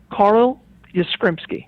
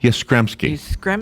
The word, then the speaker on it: Yastrzemski: All right, so tell me how to pronounce his name again, because it's important to pronounce it right. Carl Yastrzemski. Yastrzemski.